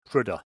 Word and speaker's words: Prudhoe: Well, they actually pronounce it Prudhoe.